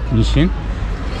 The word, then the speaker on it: Niš: O şekilde yazılıyor ve Niş diye okunuyor.